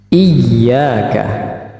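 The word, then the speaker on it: إِيَّاكَ: I Nau iaka n iyaka hati-hati sering terjadi kekeliruan ketika ynya dibaca tasdid tetapi kesan bacaannya seperti menjadi Mad atau panjang seperti ini misalnya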